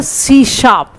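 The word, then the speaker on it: C#: नाउ सी hash tag, then pronounce as अ सी शार्प, सी hash को क्या बोलेंगे, सी शार्प।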